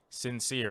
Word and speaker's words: Syncere: than christopher sincere's ep sincere and that is spelled like his last name sincere let me get it right it is s-y-n-c-e-r-e and actually now that